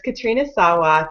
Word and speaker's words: Katrina Sawa: wanted Katrina um Sawa I always say her name wrong so that's why I avoided it at first um it's Katrina Sawa to come and talk